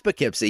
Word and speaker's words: Poughkeepsie: It's Poughkeepsie. You had it.